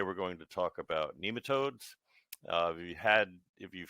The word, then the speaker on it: nematode: it pronounced both ways my Oxford American Dictionary says that it's nematode with a long e although you hear it